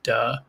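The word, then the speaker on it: 德: with it that unfortunately in modern mandarin it's pronounced duh comber simpson exactly let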